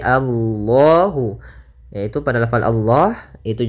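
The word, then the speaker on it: الله: besar Kemudian pada lafal Allah di sini lam tafhim lamnya harus dibaca dengan tebal bukan Alla tapi Allahu yaitu pada lafal Allah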